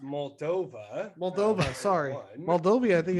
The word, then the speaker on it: Moldova: It's pronounced Moldova.